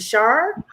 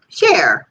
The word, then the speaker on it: Cher: Is it Shar? No, Cher. Like it's short for Sherry. Like, okay, so Cher, like the singer Cher.